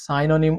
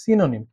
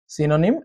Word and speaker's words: synonym: বাই দ্য ওয়ে, অনেকে কিন্তু এই শব্দটাকে সাইনোনিম উচ্চারণ করে থাকে। এর উচ্চারণ কিন্তু সাইনোনিম হবে না, ব্রিটিশ হোক কিংবা আমেরিকান, দুটো ভাষাতে এর উচ্চারণ হচ্ছে সিনোনিম, সিনোনিম অ্যান্ড অ্যান্টোনিম।